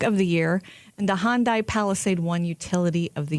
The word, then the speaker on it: Hyundai: company name and so he said it's Hyundai like Sunday.